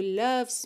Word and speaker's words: loves: somebody with somebody who loves me loves atenção para você não pronunciar a letra e, não é loves, tá?